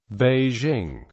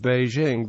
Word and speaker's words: Beijing: meteor Outlets quickly gave rise to a hyper forenz pronunciation with the result that it is more common today to hear native speakers of American English actualize the J in Beijing as the official romanized